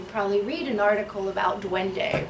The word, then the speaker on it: duende: Duende is duende.